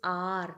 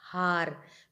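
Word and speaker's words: hour: honest not honest understood this is R not har because H is silent so so there also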